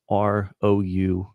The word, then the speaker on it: parousia: What are the signs literally of your parousia? And can you spell that? I want to type it in. I think I have it right, but just confirm. Parousia. It's Paru. Yes. So Parusia.